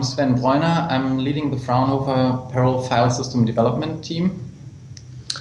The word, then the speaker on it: Fraunhofer: pronounce things terribly uh how was i even close by saying fraunhofer yes pretty much very good close enough okay so i wonder if